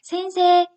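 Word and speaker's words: 先生: 선생님이라고 저를 부르실 때는 그냥 센세 이렇게 하시면 되는 거에요 얘 드시죠 짧은 불러 보시겠어요 센세 이렇게 약간 올려서 9시면 되겠죠 상품을 선생님입니다 한번 해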